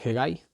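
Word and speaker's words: Hegai: cargo de todo esto era heguy así con lo que se pronuncia gb el nook o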